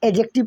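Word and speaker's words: adjective: ये D silent हो जाता है आपका, ये जो डी दिखाई रहा है इसको नहीं पढ़ते हैं, एडजेक्टिव पढ़ते हैं।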